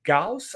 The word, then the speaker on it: Gauss: it's named after, and I'm not making this up, named after mathematician Carl Friedrich Gauss, I believe is how you pronounce it.